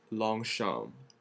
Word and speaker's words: Longchamp: it correctly which is long sham so like soften all the vowels just make them mushy in your mouth long yes say just